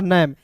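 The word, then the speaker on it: name: अंत में आने वाला इ हमेशा साइलेंट होता है दोस्तों।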